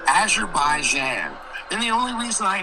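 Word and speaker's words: Azerbaijan: The prop pronunciation of the country is called Azure Baijan.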